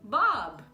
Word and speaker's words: Bob: Caso contrário, se ele terminar a palavra, mas não tiver M, do ladinho dele, ele vai ser pronunciado, tá bom? Por exemplo, no nome Bob, tá?